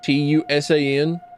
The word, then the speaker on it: Toussaint: It's like, I know that like the French are like, I know that they hate saying the letters that are in a word. Mr. Toussaint, Tusan. That's how you spell. That's how you pronounce your fucking name.